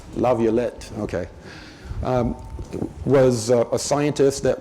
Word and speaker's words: LaViolette: Laviolette, okay.